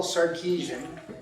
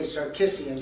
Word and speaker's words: Sarkisian: I'm Sarkisian, and sometimes I say Sarkisian so that people will know about how it's spelled.